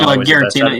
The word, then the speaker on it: Giratina: Giratina. Am I saying it right? No, Giratina, yeah, that's fine.